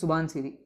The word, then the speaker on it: Subansiri: another tributary of brahmaputra which rhymes with with dhansiri it originates here flows through arunachal Pradesh and joins approximately at the same place as dhidi and it is known as suban cidi okay this is suban